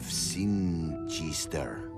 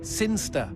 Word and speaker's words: Sinchester: But Elliot Thomas was still stuck down on Earth in the boring town of Sinchester. Sinster. What? It's pronounced Sinster. How do you know? My cousin's from Sinster.